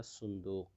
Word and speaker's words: صندوق: استعمال کیا جاتا ہے، لیکن عربی میں صحیح تلفظ اس کا صندوق۔ طباشیر، چاک کے معنی